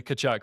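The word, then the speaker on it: Tkachuk: But the Yeah, the announcers all say Kachchuck.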